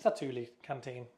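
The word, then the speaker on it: Satu'li Canteen: It's the Stulie Canteen. Uh, Satuli, Satuli Canteen, how you pronounce it.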